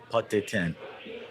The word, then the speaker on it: Pot d'Étain: Spell it. Pot, P-O-T-E. It's a kind of a pot where you cook. D'Étain. E-T-A-I-N. Pot d'Étain.